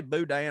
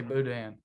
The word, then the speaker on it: boudin: Do you say boudin or boudin? I say boudin. Boudin. I'm pretty sure. I know it looks like boudin, but I'm pretty sure it's pronounced.